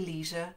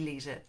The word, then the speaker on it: leisure: NPR, and Travel and Leisure. Would that be leisure? I guess it would be leisure for you guys. Not for me, it's leisure. Rhymes with pleasure.